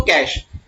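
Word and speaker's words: cache: याद करो बेटा कैश, बोलते क्या है इसको? कैश, दैट इज प्रोनाउंस करते हैं हम लोग इसको कैश।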